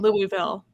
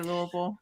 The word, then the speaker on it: Louisville: We have to teach people how to say Louisville. Wait, how do you say Louisville? Louisville. If you say Louisville, we know you're not from here.